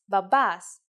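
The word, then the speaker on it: μπαμπάς: let's write it Bas if you notice that me and pet together actually sound like B you were right in Greek we don't have a separate letter for the sound B so we form it using me and P this is a little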